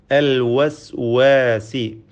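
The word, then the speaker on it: الوسواس: അൽ വസ്വാസി, വാവിൻ്റെ ഉച്ചാരണം പ്രത്യേകം സൂക്ഷിക്കുക, ശ്രദ്ധിക്കേണ്ടതാണ്. വാവിൻ്റെ മഖ്റജ്, ഉത്ഭവസ്ഥാനം 2 ചുണ്ടുകളാണ്. വാവ് ഉച്ചരിക്കുമ്പോൾ ചുണ്ടുകൾ വൃത്താകൃതിയിലാവുന്നു എന്നത് ശ്രദ്ധേയമാണ്. വ, അൽ വസ്വാസ്.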